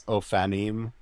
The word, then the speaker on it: ophanim: It's ophanim wheels. I often. Get my consonant mixed up in there.